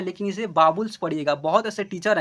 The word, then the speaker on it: vowels: बहुत ऐसे टीचर हैं कि बोलते हैं कि वॉवेल्स पढ़ने को, नहीं आप बाबुल्स बोलिएगा, ठीक है। वह गलत उच्चारण हुआ, वॉवेल्स, वॉवेल्स गलत ही उच्चारण हुआ, बाबुल्स एक राइट उच्चारण हुआ।